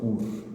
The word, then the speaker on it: Hur: Mas aqui é o nome de uma pessoa, Ur.